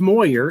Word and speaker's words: Moyer: It's pronounced Moyer, M-O-Y-E-R, Moyer Brothers Tree Care in Belleville, Illinois.